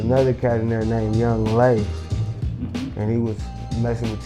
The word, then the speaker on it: Yung LA: His name was Young Lay. So why they was Young LA is Young Lay. His name was Young Lay, baby.